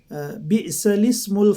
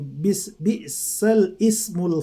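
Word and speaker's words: بئس الاسم: Kalau kita baca secara kasat mata, bacanya seperti ini, bi'sal ismul fusuqu ba'dal iman, tapi dalam surat Al-Hujurat ini harus dibaca bi'salismul, ya. Bi'salismul fusuqu ba'dal iman, bukan bi'sal ismu.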